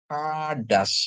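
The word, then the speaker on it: חדש: Jadi bacanya hadas ya, hadas.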